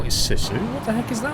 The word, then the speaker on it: Sisu: By the way, the i in sizu is pronounced the same way as in single. What you mean like sisu? It's rubbish. Sounds so bad. You can't call it sissu.